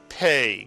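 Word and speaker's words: פּ: But with a dagesh, the Pei is pronounced as a P.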